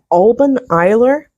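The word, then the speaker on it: Alban Eilir: holiday uh oh goodness it's pronounced Alan iser which roughly translates to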